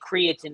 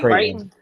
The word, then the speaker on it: Creighton: It's Creighton. Did I say it wrong? I always say Creighton.